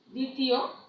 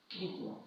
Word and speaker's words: দ্বিতীয়: যেমন দেখো, দ্বিতীয়, এটা কি হবে? দ্বিতীয়, মানে এই দয়ের পরে যে বফলাটা আছে সেটা অনুচ্চারিত থাকবে, মানে উচ্চারণ হবে না।